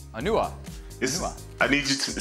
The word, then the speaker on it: Onuoha: forget n him but you mispronounced his his last name though I did you did he I'm just saying it na help me out here you you went onu it's onu onua I need you to